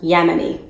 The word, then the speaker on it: Ya'moni: phillips and as i mentioned the company is pronounced yemeni she is seven plus years natural and her